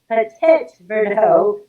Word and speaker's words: Petit Verdot: And as you can see, Petit Verdot is not spelled petit, so it's petit. Yeah, it doesn't have it. Petit is how you spell it. Yeah, so it's Petit. There is no E, and then Verdot.